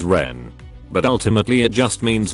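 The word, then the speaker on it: 人: In Japanese it's read as jin. In Chinese it's read as ren.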